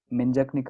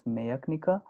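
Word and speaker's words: menjačnica: So there are these offices called Menjaknika offices. It should be pronounced as Mayaknika because J is pronounced as Y over there.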